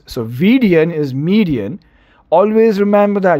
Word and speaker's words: Vidian: the vidian canal so v i d i a n is median m e d i a n median it rhymes so vdn is median always remember